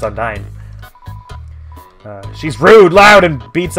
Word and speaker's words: Undyne: I think of Undine from, I guess, the spirit from the Tales game, so I say Undine, but I guess it's spelled with a Y, so it's Undyne.